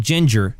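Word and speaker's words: Jinjer: It's a band called Ginger, spelled with a J.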